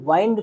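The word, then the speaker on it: wind: पढ़ा और कहीं-क जब डब्ल्यू आई एन डी को विंड पढ़ते हैं तो उसका मतलब होता है हवा जैसे मैंने कहा कि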